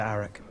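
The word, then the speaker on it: Arryk: defy my authority sir aric now I know aric and Eric are really just meant to be homophones they're both pronounced Eric but I just pronounce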